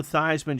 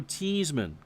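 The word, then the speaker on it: Theismann: Um that Joe Thyman changed how his pronounced how his last name to rhyme with Heisman his senior year in New York. It was Joe Teaseman.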